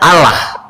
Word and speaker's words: Allah: Cobaan coba dijelaskan ada ada berapa ada berapa berapa kategori kata penulisan A L H. Maka sebagai orang Indonesia kita membacanya Allah.